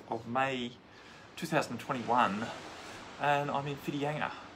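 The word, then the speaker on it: Whitianga: may 2021 and i'm infidelity spelled with the wh for those of you who don't understand maori uh spelling it's if you're trying to look it up where fitianga might be it's uh the base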